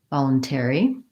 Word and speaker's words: voluntary: and in this case the ary is the air diphthong I'm going to write that as this a voluntary and there's my stress voluntary and if I were to rewrite that I would probably write it again like ma Lum ter I'm gonna write out the word air there because again I have my a and my air gliding together and then lastly make